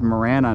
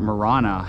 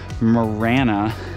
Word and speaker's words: Marana: cuz this is Morana by the way it's pronounced Morana not Morana I've always called it Morana like I was pronouncing it in espanol but uh thanks ingred for corre dirting me on that Morana for those of you wondering so I don't